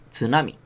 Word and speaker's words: tsunami: tsunami no sé eso es una palabra japonesa tsunami entonces tenéis que tener mucho cuidado con este